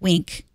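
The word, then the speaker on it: Winc: you to be happy wink WI n si pronounced wink sit back relax or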